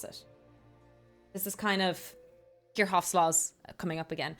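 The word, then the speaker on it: Kirchhoff: I know sometimes people pronounce a Kirchoff, but um we I will refer to it as Kirhoff because I've been corrected on it by some German speaking people. So I'm trying my best.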